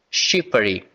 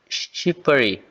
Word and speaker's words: Shqipëri: na fala do Daniel ele põe a sílaba tônica na primeira, ou seja, aqui fica shippary. Beleza? E eu também escutei a seguinte pronúncia. Em vez de falar shipper, né, eu escutei né, shippery. Beleza? Então, já escutei as duas formas, beleza?